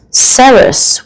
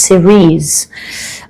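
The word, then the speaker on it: Ceres: cards and you've got sarus with a nurture apologies it's actually pronounced series all right this dwarf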